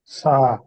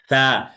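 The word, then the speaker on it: ث: সা। সা। সা বলা যাবে না। সা হচ্ছে জিহ্বার হ্যাঁ। আগা সামনের উপরের দুই দাঁতের আগার সাথে লাগবে।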